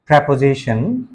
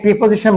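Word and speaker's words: preposition: Intensifier অথবা down toner এছাড়া auxiliary verb এবং প্রেপোজিশন। এটাকে প্রিপোজিশন বলবেন না কেউ, এটা সঠিক উচ্চারণ হচ্ছে প্রেপোজিশন and conjunction অথবা লিঙ্কার্স।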